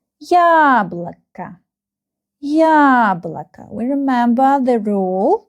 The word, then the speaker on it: яблоко: The first syllable is stressed. Яблоко. Яблоко. We remember the rule that these two O, they are not stressed and we pronounce them like A. Яблоко.